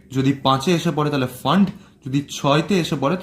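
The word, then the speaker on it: Pfund: এবার আমার আসবে ফান্ড। 7 থেকে ওটা আসবে 5-এ, 6 থেকে 5-এ। পিটা সাইলেন্ট, আমি উচ্চারণ করবো এটা ফান্ড।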